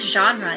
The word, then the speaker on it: genre: of our spelling rules the G sounds like a j so we use the soft G rule knowing that when G